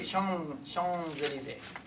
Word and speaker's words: Champs-Élysées: Even though it's written champs, right? Champs, but they say Champs-Élysées. Right? They don't pronounce the M, the P.